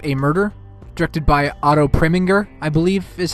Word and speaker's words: Preminger: The film Anatomy of a Murder, directed by Otto Preminger, I believe is how you pronounce his last name, is a great film